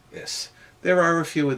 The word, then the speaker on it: is: the most common word this breaks the rule of slender s should be ish but it's not it's pronounced yes there are a few